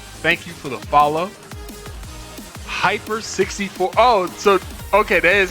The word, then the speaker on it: Heiper 64: All right, it's spelled HEIPER 64. So at first I was like, who's Helper 64? But then I'm reading it out loud now and it's Hyper.